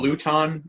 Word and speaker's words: Luton: See, that was my mindset last pronounced Luton.